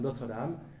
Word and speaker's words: Notre Dame: We use the French pronunciation after all. University of Notre Dame, Indiana.